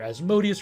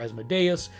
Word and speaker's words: Asmodeus: The biggest lawful evil deity in Pathfinder is, depending on your pronunciation, either Asmodeus or Asmodeus, very much a devil figure that is the